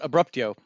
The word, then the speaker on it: Abruptio: The movie this month is, and I don't know if I'm going to pronounce this right, Abruptio. Abrupt Abruptio. That's how I would say it. Abruptio.